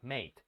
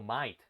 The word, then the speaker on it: mate: En vez de decir dude, en el inglés australiano utilizan más mate. Pero no lo pronuncian como mate, lo pronuncian como might. Might.